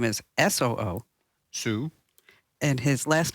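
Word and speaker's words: Soo: better because the guy's name, let me just spell it for you. His first name is D-O-O. Do. His middle name is S-O-O. Sue.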